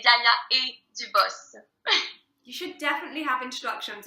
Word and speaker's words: Gaia & Dubos: You can say Gaia and Dubos, Okay. but since it's in French, so I say Gaia et Dubos.